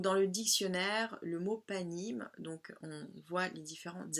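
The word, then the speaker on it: פנים: Donc se dit panim donc le suffixe im pluriel masculin qui montre en fait donc qui s'écrit pardon p noun yod même et qui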